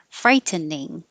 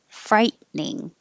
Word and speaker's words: frightening: three you have options you can say three syllables frightening or two syllables frightening and i think the i've always said it with two syllables so i thought that was most common frightening but the dictionary had the first one as most common so either way frightening number four preposterous preposterous